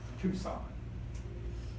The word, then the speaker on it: Tucson: A lot of people do pronounce it Tuscan or whatever because they think that's how you pronounce it, but it is, it's two and then sign, as it were. All right, Tucson.